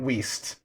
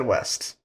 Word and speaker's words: Wiest: And Dianne Wiest. I almost said West.